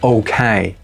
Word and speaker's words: OK: OK. OK. Щодо O, його можна так по-простому і вимовляти.